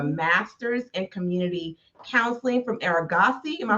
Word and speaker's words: Argosy: You have a master's in community counseling from Argosy. Am I pronouncing that right? Argosy.